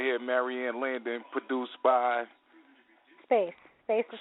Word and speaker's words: SBVCE: Space. Space is how you say it. Okay, yeah, you spelled it a totally different way. Yeah, it's like SBVCE, but Space is how you say it, yeah.